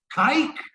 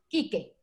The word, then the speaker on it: Quique: But you pronounce Quique. Because you didn't have the accent marked on.